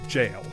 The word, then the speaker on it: gaol: a vowel was jail, which used to be spelled G-A-O-L. So if you're ever playing, Elden Ring, and you see one of those Everjails and wonder why does it say Evergaol or something, because it's spelled like that, the pronunciation is jail. G-A-O-L used to be jail in English, until it was much more sensibly respelled the way like it sounds.